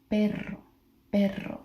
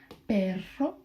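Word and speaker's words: perro: one r but then if you change it where do you see the double r it would be perero. So you went from but to dog. Yeah, perero perero pero.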